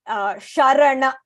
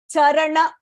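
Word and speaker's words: चरण: So here you have to focus on not saying Sharana. Charana is Padam, Sharana is salutation or refuge.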